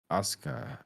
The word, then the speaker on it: Asuka: You don't pronounce it right that way? Okay. No, it's Shinsuke Nakamura, and it's Asuka.